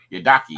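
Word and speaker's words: Yidaki: I think best for, and my favorite one because it's rare is you play the Yadaki.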